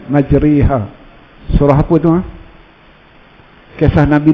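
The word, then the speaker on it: مجريها: Ejaan dia majroha, tapi kita baca dia majriha.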